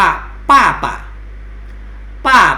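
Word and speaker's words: 爸爸: ป ปลา นะ ครับ ตัว B ก็ คือ เสียง ป ปลา นั้น เอง นะ ครับ อ่ะ อยู่ ข้าง ล่าง มี ก็ คือ ตัว อักษร จีน 2 ตัว นะ ครับ อ่าน ว่า ป้า ป้า ปะ นะ ครับ ป้า ป้า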